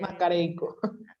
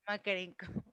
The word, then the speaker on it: Makarenko: No lo sé pronunciar bien. Mancarenco. Makarenko.